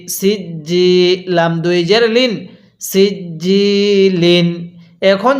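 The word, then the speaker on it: سجيل: হ্যাঁ এরপরে সিনজিম জের সিজ্জি ইয়া জের জি সিজ্জি লাম দুই জের লিন সিজ্জিন এখন যদি আমি এখানে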